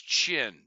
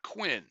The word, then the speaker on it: Qin: Please note that pronunciation of that word. It's Qin. There's no U there. It's not Qin.